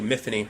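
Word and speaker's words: Myfanwy: Mythony, rhymes with Tiffany.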